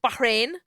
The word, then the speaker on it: Bahrain: __ ] idiot and yes I know that it's pronounced Bahrain okay who do you